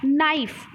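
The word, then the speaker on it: knife: silent है निफ तो नहीं बोलते हो ना क्या है की आपका साइलेंट है निकालकर की शुरुआत कैसे होती है और कैसे में क्या होता है साइलेंट होता है यानी जिन शब्द में जिन शब्द का इस्तेमाल कैसे होता है वो हमारे के जो लेटर होते हैं वो साइलेंट होते हैं ठीक है इतना ध्यान रखिएगा नाइफ का नाइफ तो अपनी बोलते हो क्या बोलते हो नाइफ और स्पेलिंग क्या होती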